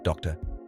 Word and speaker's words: doctor: last syllable Mesa doctor doctor ends in R so we stress the last syllable doctor accent mark required